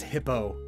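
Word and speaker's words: Hippeux: Hippieux. Supposedly pronounced Frenchly, so E-U-X, it's just O. Oh. The name is just Hippo.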